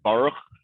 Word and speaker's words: Baruch: The real way to pronounce it is Baruch.